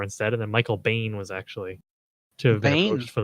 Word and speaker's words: Biehn: how do you pronounce how do you pronounce that is that how you pronounce it or is it BN yeah Michael Biehn is that what it is I think but I